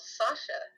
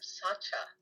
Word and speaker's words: Sasha: It's like I had a friend called Sasha, and in when I was in Mexico, they would always call him Sacha because they didn't have the sh sound there you go.